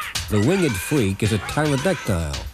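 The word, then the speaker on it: pterodactyl: winged freak is a tyrodectile an extinct giant bird with a silent pee who the hell is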